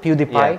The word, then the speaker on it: PewDiePie: about PewDiePie all those is that how you pronounce it PewDiePie PewDiePie yeah PewDiePie yeah is the biggest YouTube